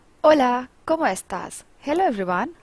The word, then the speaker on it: hola: in Spanish it is hola the H is silent next how do we